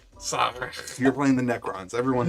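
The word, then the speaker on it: Szarekh: Sarek. Sarek. You're playing the Necrons. Everyone. Necrons. There we The go. whole name is silent.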